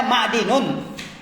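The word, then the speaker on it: معدن: Nah, bacanya ma'dinun.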